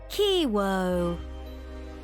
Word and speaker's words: Kiwo: right this time okay i w o kiwoo well hello there my charming and Enigma kiwi